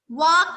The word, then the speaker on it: walk: वॉक में L silent है.